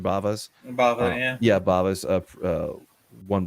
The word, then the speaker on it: Bava: Bava's.